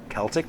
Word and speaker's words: Celtic: Celtic mythology, not Celtics. that's a basketball team.